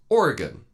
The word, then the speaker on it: Oregon: in is Oregon and you can remember this quite easily you can just think of the question hey did you take care of that thing yeah I took care of that thing yeah did you use a knife or a gun just remember that phrase and you'll always get the pronunciation of Oregon correct anyway that's my thoughts